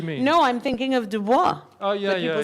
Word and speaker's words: Du Bois: No, I'm thinking of Dubois. Oh, yeah, But people say yeah. Du Bois, but I think, have you No, not it done is- French? It's Dubois. No, it's Du Bois.